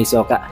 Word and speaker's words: Hisoka: pronunciation natin kay Hisoka Pakinggan niyo na lamang ito h Hisoka that is the original pronunciation ang pangalan ni Hisoka subalit dahil nga sa